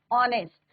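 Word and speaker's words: honest: ऑनेस्ट, तो H silent है, ऑनेस्ट।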